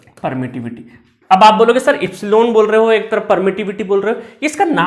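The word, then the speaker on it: epsilon: पर एक constant introduce होगा जिसको बोलते हैं एप्सलोन। क्या बोलते हैं? एप्सलोन। ठीक है? तो मुझे भी बहुत दिन लगे इसका नाम रटने में। आई होप आपको भी लगेगा। इप्सिलॉन। क्या पढ़ते हैं इसको? इप्सिलॉलो। इसका स्पेलिंग भी लिख देता हूं।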